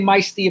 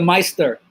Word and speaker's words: Meister: Yes, you know, you can say Meisty if you want to because that's how it's spelled, but actually it's really the Meister without the R.